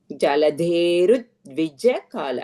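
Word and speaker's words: जलधेरुद्विजकाल: Jaladherudvijakala. And that's a dvitvam. You make it as a dvitvam.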